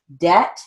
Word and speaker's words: debt: did have a debt debt is written as d-e-t the silent b line seven second sentence